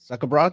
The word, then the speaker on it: Zuckerbrod: Zuckerbrod?